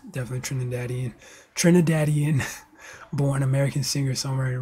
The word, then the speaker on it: Trinidadian: October 5th 1974 Trinidadian TR that's how you pronounce that Trin Trinidadian Trin tradan no it's definitely Trinidadian Trinidadian born American singer songwriter record producer and